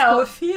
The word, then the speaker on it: Ko-fi: And thanks again also, Rain, for our Ko-Fi. I refuse to call it Ko-Fi, by the way. It's Ko-Fi. Yeah, officially it's Ko-Fi, but we can... Yeah, so in my mind, it's like lo-fi, Ko-Fi.